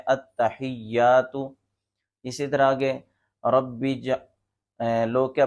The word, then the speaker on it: التحیات: میں لفظ ہے التحیات، تو لوگ کیا پڑھ رہے ہوتے ہیں التحیات، التحیات، تو یہ درست نہیں ہے۔ درست تلفظ یہ ہے التحیات۔ اسی طرح آگے لوگ